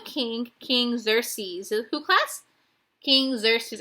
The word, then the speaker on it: Xerxes: King Xerxes. I know it looks different than how you pronounce it, but it really is King Xerxes.